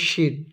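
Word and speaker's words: ش: যখনই সিন লিখে সিনের উপরে তিন নোক্তা দিবে উচ্চারণ হবে শিন।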